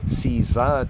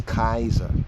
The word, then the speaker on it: Caesar: It's like people say Caesar today, but actually back then, his name was pronounced as Kaiser, Kaiser, or Kaiser, Khazar, Kaiser.